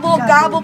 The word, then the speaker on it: Gabo: Again, mga ka-Jepas, ito ang ating lucky Mami for today na si Mami Gabo all the way from, Gabo po pag-pronounce.